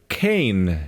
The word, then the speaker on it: Cayne: so anyway we're playing Cain instead I think it's pronounced that way ca YN e it's a isometric point-and-click